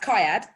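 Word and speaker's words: CIAD: so first of all the acronym is pronounced kayad and the the reason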